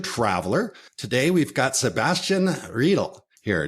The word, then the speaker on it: Riedel: Today, we've got Sebastian Riedel here. Did I say that right, Sebastian? Yeah, that's good.